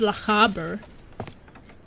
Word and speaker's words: Lochaber: So it's pronounced Lochaber.